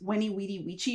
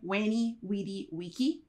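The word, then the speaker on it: veni vidi vici: keep wayy wedy Wei you've probably seen it as Wy wedy Wei or something like that but if you're going classical with your pronunciation wany wedy Wei carpedm aente Fortuna you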